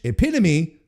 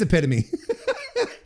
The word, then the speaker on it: epitome: a while because it because in French epitome is epitom. That's and that's how you pronounce it. So that legitimately that's the that blame blame the French side. That's exactly because because now I'm like oh wait no it is epitome.